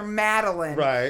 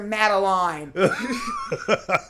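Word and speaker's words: Madeline: Reese Witherspoon's character's name everyone else calls her meline and she calls her mateline like she that that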